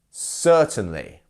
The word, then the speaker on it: certainly: lengthen that sound uh in American English they'd say C certainly like like they would they would Cur the R so C certainly they like they would curl that R over whereas in British English we almost have quite a lazy sound when we make this our RS are quite generally r r we we relax all of the muscles